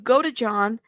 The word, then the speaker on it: Godejohn: Should Nicholas, now that I know how to say his last name, Godejohn, be released?